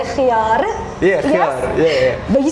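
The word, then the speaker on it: خيار: Khiyar. Thank God. Why? How do people say it? Khiyar, khiyar. I say khiyar. I feel like the fancier people say khiyar. Yeah, khiyar.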